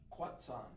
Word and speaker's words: Quechan: So Aaron and I are staying in Winter Haven, California, at the is it the Quechan? Quetzan. The Quetzan Casino? Quetzan. But it's spelled Queechan.